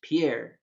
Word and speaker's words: Pierre: imagine it is not pierre even though it is spelled pierre and if you ask any frenchman it's pierre no talk to a person from south dakota